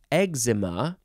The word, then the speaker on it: eczema: last word is ezema e c z e m a you can pronounce it EXA ezema or eczema however you want to say it if you even want to say exem that's fine too noun from circus 1753